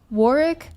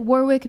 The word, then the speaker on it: Warwick: more uh it's pronounced Warwick. I pronounce it Warwick because I refuse to acknowledge that the UK cannot remember to pronounce the extra W in the word.